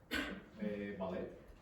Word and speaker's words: ballet: Ballet. Nope. Ballet. ballet. So, we pronounce it in a French style.